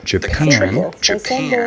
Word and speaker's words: Japan: For example, the country Japan, in this word, the second syllable is stressed. Japan. However, many English learners stress the wrong syllable. They say Japan, and that's wrong. But it's very easy to notice if a teacher points that out to you, and it's very easy to fix. You just stress the other syllable.